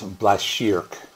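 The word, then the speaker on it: Blashyrkh: to go Google it I think it's black sheerk so last year because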